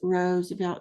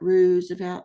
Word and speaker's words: Roosevelt: Roosevelt I was like pronounce Roosevelt not ruse about you know I asked